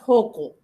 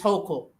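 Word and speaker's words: Hochul: by the way uh it's pronounced hoco our governor is hoco oh hoco yes again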